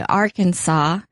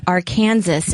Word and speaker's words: Arkansas: I remember one time I was reading out loud and I knew how to say Arkansas. But as I was reading it, I pronounced it Arkansas, and it got such a huge laugh, and I felt so stupid.